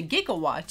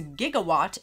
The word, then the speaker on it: gigawatt: and you go to GIGAWATT, you can actually see that there's two pronunciations that are valid. One of them is GIGAWATT, and the other one, if you press it, it's GIGAWATT.